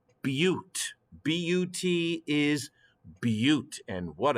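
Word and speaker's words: but-: notes this is not a but this is pronounced butte b-u-t is but and what a beauty it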